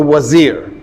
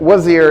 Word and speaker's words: wazir: You'll sometimes see it spelled with a V because the Turks did V, the Persians do V instead of W because they don't have a wa.